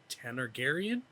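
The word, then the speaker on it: Tanagarian: As you turn to see the, I do believe it's pronounced Tanargarian, you see Hawkman.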